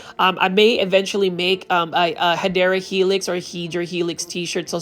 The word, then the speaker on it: Hedera helix: This is your favorite Hydra helix, or the correct way to say it is Hedera helix, which is also known as the English ivy.